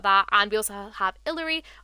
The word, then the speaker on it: Illari: and we also have Hillary or ilari I think it's illari I think you pronounce it um obviously I've